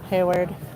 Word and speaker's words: Hayward: Hayward. Hayward. Was I saying that wrong? Haywood. Oh my god. Sorry. Hayward.